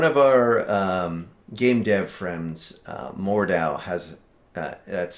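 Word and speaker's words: Mordhau: One of our game dev friends, Mordow, has that's spelled.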